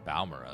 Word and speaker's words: Balmora: I always called it Balmora, so I guess Balmora is the correct pronunciation.